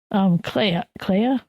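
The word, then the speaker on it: Kleya: and he's doing his little code talk with Clea.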